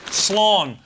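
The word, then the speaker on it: Slán: Joy from Dave Clayton San is goodbye in the Irish language it's pronounced slon quickly run the eat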